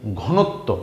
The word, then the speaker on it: ঘনত্ব: ত এর নিচে বফলা আসাতে ত এর ডাবল উচ্চারণ হয়েছে বীরত্ব এই শব্দটা কি ঘনত্ব ঘ ন ত বফলা ঘনত্ব রাইট তাইলে আমরা